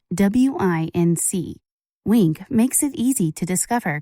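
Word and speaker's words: Winc: to talk about my favorite wine service week that's spelled WI NC wink makes it easy to discover great wine just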